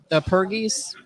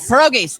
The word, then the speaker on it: pierogies: said is going to go on, is the Pergos. I can't even pronounce it. Pergos and scallops. Can't even think of it, but that's my favorite. Pierogies.